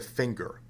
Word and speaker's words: finger: that's not a singer why do we pronounce the word finger with a hard G and the word singer